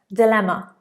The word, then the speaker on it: dilemma: 26, dilemma. Dilemma. Or dilemma. Dilemma.